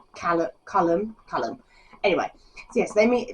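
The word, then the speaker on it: Caelum: we do a project but I was reading it as Callum in my head but it's colum because it's c a e l u m so it's colum colum anyway yes they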